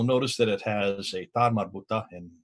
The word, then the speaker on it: ta marbuta: And in the Quran, you'll notice that it has a ta marbuta, which is the at sound at the end of the letter of the word.